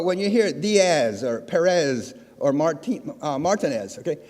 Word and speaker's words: Perez: you hear the or Perez or Martin Martinez okay it's Martinez it's Perez and it's Dias okay that always bothers me one simple rule Z is an S okay that bothers me